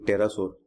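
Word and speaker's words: pterosaur: तो बेसिकली नई स्टडी ये बताती है कि भाई जो ये स्पीसीज है जिसको बेसिकली टेरासोर, इसमें पी साइलेंट रहते हैं यहाँ पे, टेरासोर का मतलब ये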